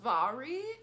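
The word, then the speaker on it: Mhairi: I'm just done um it's pronounced VAR e so VAR e McFarland and I'm really interested in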